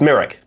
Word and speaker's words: Mirek: about your your name merrick is it pronounced merrick or myrick no merrick uh it's merrick where is it where's